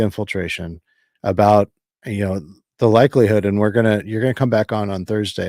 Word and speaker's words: Yue: And I was mispronouncing your name, and I apologize. I was saying, that's okay. so it's you. Is that right? Yeah, that's you.